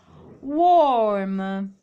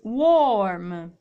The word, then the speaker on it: warm: oggi avremmo un worm quindi warm ragazzi state attenti a questa r mi raccomando perché quando la r ripeto è in mezzo solitamente gli inglesi britannici non la pronunciano inglesi e americani invece un po si sente quindi buon uomo